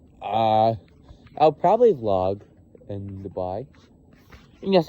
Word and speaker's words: Dubai: Anyway, um I'll uh I'll probably vlog in Dubai. Yes, I call it Dubai. I don't call it Dubai. I I know I know that's how it's supposed to be pronounced, but I I don't know.